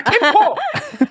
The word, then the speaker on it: 캠코: 정확하게 말씀하셨고, 그래서 이 전체의 부채 금액, 캠코가 아니라 캠코. 발음 정확하게.